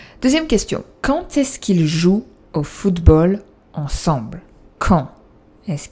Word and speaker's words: jouent: On va dire qu'ils jouent. Remember, you write ENT, but you don't pronounce it. Ils jouent au foot.